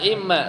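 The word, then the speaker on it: إمّا: Wa imma sekarang wa imma bikasril hamzah. Jadi kan ada yang bifathil hamzah bacanya apa? Amma. Tapi ini bukan amma tapi im imma.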